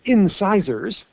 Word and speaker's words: incisors: what are called the incisors which sounds like scissors because that's exactly what it means it's spelled like scissors the way scissors work